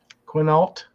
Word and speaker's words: Quinault: Quinault? Quinault? Is that how you pronounce that?